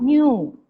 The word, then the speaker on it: knew: New. KNEW. No. New. You have to pronounce like new.